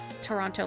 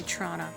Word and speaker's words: Toronto: amore fact i think i pronounced toronto toronto like an outsider though if you're from there you say trauna but hey silly welcome